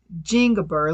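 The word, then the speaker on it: Zingiber: So, to grow the most common variety, which is called Jingiber, let me go ahead and spell that for you.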